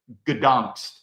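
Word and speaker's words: Gdańsk: I think it's in Polish, it's pronounced Gdansk.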